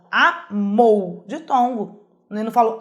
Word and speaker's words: amou: Vamos começar pela palavra amou, ó, amou, de tongo.